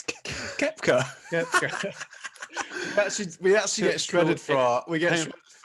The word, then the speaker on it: Koepka: It's Koepka. we actually get shredded for some pronunciation. Koepka? Brooks Cupcake.